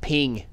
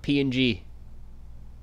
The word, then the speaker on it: PNG: friend pal it's pronounced ping ping file not png ping like a tiff or a gif it's a ping remember